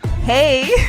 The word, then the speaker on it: hej: Well, hey. Hey is yes, that's the correct way to say it.